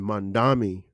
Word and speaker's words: Mamdani: And Mamdani, right?